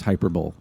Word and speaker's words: hyperbole: It's pronounced hyperbole.